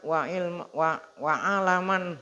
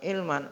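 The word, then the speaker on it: عَلَمًا: muwaaquuddin beliau imaman ya Apa imaman waaman bacanya bukan Ilman waaman minamin ya alam itu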